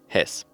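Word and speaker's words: Hesse: in before the elections in Hess that's how you say it has yeah in English all right so um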